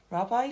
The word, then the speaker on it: rabbi: Rabbi Ziv and a friend. 자, 라바이가 원지부터 막힐 수가 있어요. 얘는 유대교의 목사님 같은 겁니다. 랍비라는 말을 들어봤을 수도 있을 것 같아요. 라바이라고 읽으면서 많이 배운 사람, 종교적으로 높은